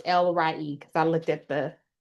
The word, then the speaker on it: El Roi: It's the God who sees me and the name is pronounced Lry and that's E L R O I but it's L re cuz I looked at the pronunciation they got on page 14.